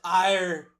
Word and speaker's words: Erie: No, laddie boy. It's pronounced ire.